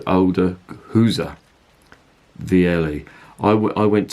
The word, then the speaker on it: Gueze: on me and he said oh you mean Hooser and I said yeah I suppose II and his SS pronounced these Flemish so the G is like